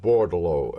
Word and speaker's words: Bordeleau: according to Army records is Joseph Paul Edward bordalo and the last name is spelled b o r d e l e